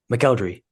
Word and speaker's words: McElderry: department for constantly saying his name wrong. McElderry. I want a pat on the back for saying this correctly.